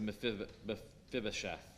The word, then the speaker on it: Mephibosheth: Now we get to Mephibosheth.